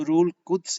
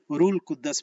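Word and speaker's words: روح القدس: जब हम रूल कुद्स को रूल कुद्दस पढ़ते हैं, और रूल कुद्दस जो है ये गलत प्रोनाउंसिएशन है, तो इसलिए हमें कंफ्यूजन होती है।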